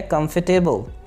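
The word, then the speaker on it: comfortable: आरामदेह की इंग्लिश होती है कंफर्टेबल, कंफर्टेबल, कंफर्टेबल नहीं है, यहाँ पे आर जो है वो साइलेंट है, तो ये है कंफर्टेबल।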